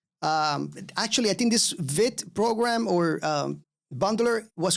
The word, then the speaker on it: Vite: going to use vit all right uh it's spelled like this Vite I usually call it Vite but it's pronounced vit and this is a